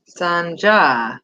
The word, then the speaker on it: Sanja: It's actually pronounced with the J. Sanja? So is it Sanja? Sanja.